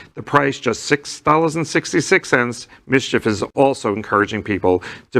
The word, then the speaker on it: MSCHF: six six thousand sixty-six cents the collective mischief pronounced mischief mschf was helped who helped little nos x